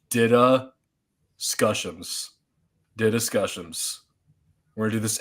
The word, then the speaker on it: DDiscussioMs: So if you have trouble pronouncing it, this is the pronunciation. It's DDiscussioMs.